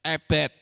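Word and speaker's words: עבד: Ayin, bet, dalet. Itu bacanya ebed.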